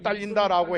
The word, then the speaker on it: 달린다: 자, 일선이 딸린다라고 해야지 일손이 달린다고 하면 안 되죠. 물론 사전에는 달리다가 힘이나 물자가 부족하다라고 돼 있습니다. 그러나 딸린다라고 해야 다리기 선수의 달린다와 병결력이 생기는 것이죠.